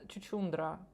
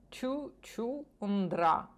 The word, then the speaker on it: Чучундра: запускайчурачурачучурачурачурачурачурачу рачурачучурачурачучурачу е це він говорить слово Чучундра Чучундра але він його вимовляє як драчу насправді це слово яке вимовляється інакше але спеціально задумано так щоб